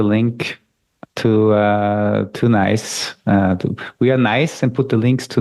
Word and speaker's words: NAIS: So it's pronounced nice. It's a nice platform.